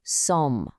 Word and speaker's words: sommes: part of, it's nous sommes. We are. Let's try saying it. Nous sommes. And hey, notice that again? The S at the end of sommes is silent.